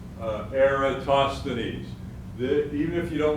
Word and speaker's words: Eratosthenes: have heard of eratosthenes so most greek names you pronounce all the letters air toss the knees i suggest you say that several times eratosthenes even if you don't